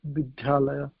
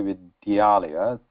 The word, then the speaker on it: विद्यालय: So there where we say vidyalaya, so we are actually, you can hear there is a double da there, vidya.